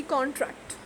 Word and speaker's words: contract: We tore up the contract.